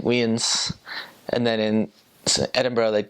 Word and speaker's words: Edinburgh: I was like oh I'm going to go to Edinburg and she's like no never say that again CU that's not how you say it I was like oh it's like it's Edinburgh so Ed it's they also